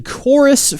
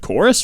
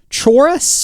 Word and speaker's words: Chorus: how you say that it looks like chorus right chores surely not I think it's one of those situations where the CH does not make a chest sound however I'm sure if